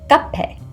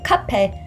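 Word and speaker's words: 커피: and you might also sometimes hear this one pronounced as guppy I've been told that both kape and gape are correct but just in my experience alone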